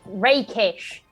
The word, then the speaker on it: rakish: Pronounced rakish. Rakish. Cool. Rakish. So we know for future. It is rakish. Like if you to be rakish is to be debonair in a rather rugged way.